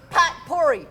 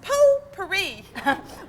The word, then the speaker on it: potpourri: right Alexei give me pot pourri for a hundred I believe that's pronounced poo pourri but out in Regan's